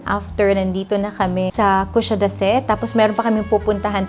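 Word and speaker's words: Kuşadası: Just like that, we finally arrive in Kusadasi. Ganun pala siya pagka-pronounce. Kusadasi.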